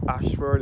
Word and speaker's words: Ashford: Ashford is spelled Ayshford. That is the road leading up to the cave.